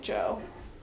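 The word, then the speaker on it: Djo: His name is like Joe like but it's spelled DJ O and it's just pronounced like Joe is what he goes by on Spotify.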